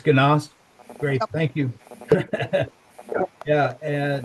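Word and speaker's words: Genaust: how to pronounce it it's jast or ganos ganos it's ganas great thank you yeah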